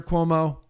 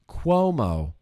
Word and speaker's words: Cuomo: cessation one more quick call to Jewell Governor Cuomo one more quick call to Jule and I